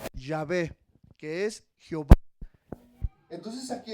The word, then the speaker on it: Yahvé: ¿Sabía que la palabra Yahvé es una palabra que nadie podía pronunciar, pero le pusimos las vocales de la A y la E, Yahvé, para pronunciar que es, hermano, el existe, el